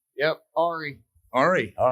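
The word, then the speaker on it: Ary: Ari.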